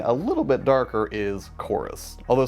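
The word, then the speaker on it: CHORVS: little bit darker is chorus although stylistically it's written out as c-h-o-r-v-s although I don't think it's pronounced corves but anyways yeah let's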